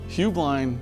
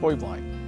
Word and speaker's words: Heublein: Or is it Heublein Tower? There's actually three pronunciations. Heublein is the family, Heublein is the business, and the actual correct Bavarian pronunciation is Heublein.